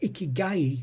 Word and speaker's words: ikigai: was a key guy and a key guy that's how it's meant to be pronounced the donor it's a